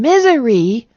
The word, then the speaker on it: misery: give me some examples his and is are examples of my z sound at the end of a word please and misery are examples of my